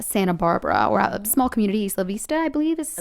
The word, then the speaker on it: Isla Vista: Uh the story coming out of uh Santa Barbara or small community, Isla Vista, I believe is how it's Yeah, Isla Vista is how it's pronounced.